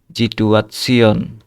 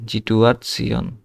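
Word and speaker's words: Situation: এই যে এস এর পরে আই আছে, এই জন্য জয়ের মতো উচ্চারণ হবে জিটুয়াৎসিয়ন, ঠিক আছে? জিটুয়াৎসিয়ন।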